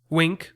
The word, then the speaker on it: Winc: leave the house seriously wink which is spelled winc is a service that